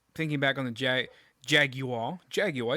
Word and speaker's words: Jaguar: Jaguar. It's not Jaguar. It's Jaguar, if you're going to pronounce it right. But I'm an American, so I say Jaguar.